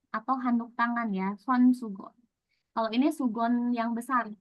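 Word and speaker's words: 수건: Segan. Gitu. Boleh? Yang pertama apa bacanya? Sugon.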